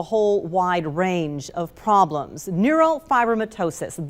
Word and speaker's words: neurofibromatosis: Neurofibromatosis, that is how you say that word.